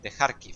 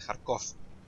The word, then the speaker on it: Kharkiv: Quizá esta parte pueda recordar un poco al mapa de Kharkiv o de Kharkov, según como lo pronunciéis.